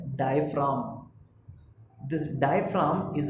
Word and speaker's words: diaphragm: Pronounce इसको करते हैं एज डायफ्राम.